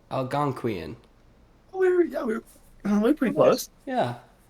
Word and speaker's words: Algonquian: it's pronounced. Hold on, I have to hear it again. Hold on. Algonquian. Algonquian.